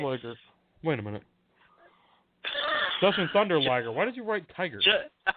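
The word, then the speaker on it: Jushin Thunder Liger: Justin Tiger, and I always say his name, Justin Tiger Liger? How do you say his name? Justin Tiger Liger, yeah. Yeah, all right, so I said it right. Liger. Wait a minute. Justin Thunder Liger.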